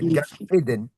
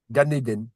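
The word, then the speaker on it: גן עדן: Gan Éden. Gan Éden. Éden se prononce comme en français, parce que Éden, c'est un mot hébreu qui veut dire plaisir, voilà, ou délice, jardin de délice.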